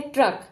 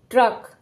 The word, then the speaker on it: ट्रक: व्यंजन के बाद आएगा देखिए पहला शब्द है ट्रक तो ट व्यंजन के नीचे लगी है तो ट के बाद ही र का उच्चारण हम करेंगे और ट कैसे बोला जाएगा आधा इसका मतलब य आधा ट है ट्रक ड के नीचे पद